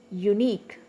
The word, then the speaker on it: unique: with q u e unique okay u is one syllable nick is another syllable it is a diasyllabic word so the stress is on nick okay n-i-q-u-e oblique of